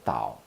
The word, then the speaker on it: Tao: know is it a fourth tone now ow Tao Tao Tao forth on the is in the